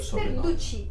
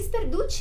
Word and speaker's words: Sperduti: Sperduti. Sperduti. Sperduti é de qual nacionalidade? Italiano. Italiano? Isso. Ah, então já fica mais fácil.